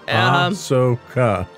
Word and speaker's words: Ahsoka: It's pronounced just the way it's spelled. Sure. Ahsoka.